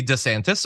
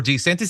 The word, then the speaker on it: DeSantis: probably doesn't either but if he wants it to be DeSantis or DeSantis he can my name what's my